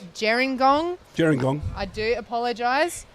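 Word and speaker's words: Gerringong: i've had a correction for some of my pronunciation it's jerengong jiren gong i do apologize um i'm learning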